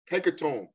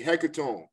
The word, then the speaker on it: hecatomb: We call it a hecatomb. We call it a hecatomb. That's spelled Hecatomb.